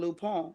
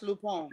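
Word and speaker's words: Lupin: ain't got to read no subtitles it's called lupone it's spelled l-u-p-i-n it's got this real big black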